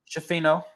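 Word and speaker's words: Schifino: I did actually uh how do you pronounce it Jalen Hood jeffino jeffino thank you um that's why I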